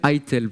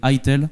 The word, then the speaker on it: Eitel: Je le prononce bien, c'est un nom allemand. C'est, alors moi, j'aurais dit, Manuel... j'ai pas le nom sous les yeux en fait, c'est pour ça. Manuel Etel. Bref, Manuel Eitel. Eitel.